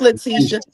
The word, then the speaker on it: Letitia: Letitia, is that how I pronounce it? I'll It's keep Letitia. It's Letitia.